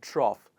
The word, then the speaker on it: trough: lesson, it is /of/, o-u-g-h is also pronounced as /of/, in the word ‘cough’ and ‘trough’.